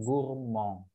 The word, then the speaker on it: gourmandes: Jadi ils sont gourmands, pakai s. Tuh. Nah, kalau cewek dan atau feminang plus plurial, jadinya elles sont gourmandes. Tulisannya gourmandes ya, tapi bacanya gourmand. Sama.